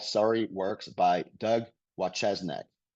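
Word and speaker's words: Wojcieszak: There's a book called Sorry Works by Doug Wachesnik. His name is spelled exactly like it sounds, Doug Wachesnik.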